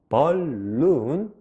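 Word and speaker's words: balloon: 많이 날리죠 풍선을 영어로 벌룬 벌룬 벌룬 이렇게 발음을 해요 따라 읽어주세요 풍선 벌룬 벌룬 벌룬네 잘 드셨어요 알파벳 bal 여기까지 이렇게 바르면 되죠 그리고 loon 룸 룸 이렇게 발음돼서 합쳐져서 벌룬 이렇게 되죠 그래서 벌룬 벌룬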